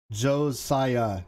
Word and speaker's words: Josiah: It's pronounced Josiah, not Spanishy.